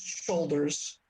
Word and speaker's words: Shoulders: And I said out loud, my name is Shoulders. That is how it's pronounced. It is an English name.